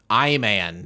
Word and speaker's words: I Man: show we'll get there but we're we're watching i man today no it's pronounced iman iman uh ivan i i thought